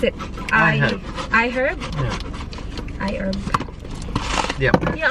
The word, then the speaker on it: iHerb: How do you pronounce it? iHerb.